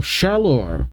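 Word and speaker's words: Shalour: As far as I can tell, Shalor City. It's said just how it's spelled.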